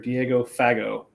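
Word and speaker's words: Diego Fagot: signing former Navy linebacker Diego fago yeah yeah and I'm using the print the French pronunciation there because no that's how it's pronounced okay good yeah um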